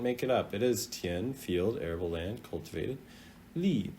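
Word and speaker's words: 田: It's pronounced tian.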